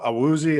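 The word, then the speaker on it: Awuzie: some of the other guys um you know a woozy i believe that's how you say it from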